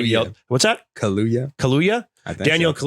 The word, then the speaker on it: Kaluuya: They hated, but yeah, Mattel's Barney film starring Daniel, who's, I can't say his last name wrong. I don't want to get yelled. What's that? Kaluuya.